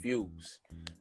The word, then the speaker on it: Fwz: on your name um my name is fwz but it's pronounced fuse I spell it out